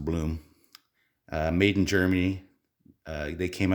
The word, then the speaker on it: Blum: company called bloom or blum i believe it's pronounced bloom made in germany they